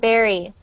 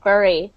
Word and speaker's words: bury: Berry and berry. This looks like bur and some people do pronounce it like bur. But um with my accent we just pronounce it like berry.